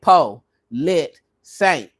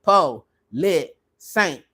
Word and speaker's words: Politsaint: Politsaint. If you're having a hard time with the first part of it, saint will do. Okay. Some people just say polit. Whatever works for you.